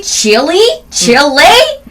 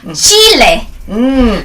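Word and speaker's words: chile: 고추 이거 어떻게 발음하지? 고추? 어떻게 하지? 칠리? 아닙니다. 칠레.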